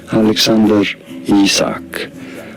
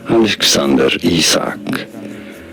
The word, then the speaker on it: Alexander Isak: for more learning how to you say it Alexander isak Alexander isak pretty St forward right so let's try and